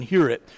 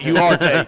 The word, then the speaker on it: Huarte: I said, you're looking it up if you're pronouncing it Huarte. that ain't how you do it. So John Hewitt, 64, is what C.J.